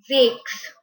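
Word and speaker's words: sechs: a video on also six is said as jakes jakes s e c h s six in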